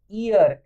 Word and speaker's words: heir: ईयर, HEIR, इसमें H silent होता है तो इसका मतलब होता